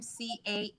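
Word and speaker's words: Casarjian: me that I read is called Forgiveness, A Bold Choice for a Peaceful Heart by Robin Casarjin, I think is how she pronounces her last name, Casarjin.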